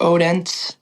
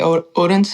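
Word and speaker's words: Odense: to a town in America people pronounce it Odin it's spelled like Odin but there they say o odens and they do a country music festival outside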